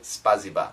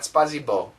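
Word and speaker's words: спасибо: I'm thinking Russia spasiba in Russia I believe you say spasiba not spazo but spaza thank you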